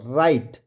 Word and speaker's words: right: वैसे ही RI राई और GH क्या हो गया साइलेंट हो गया और T से ट राइट।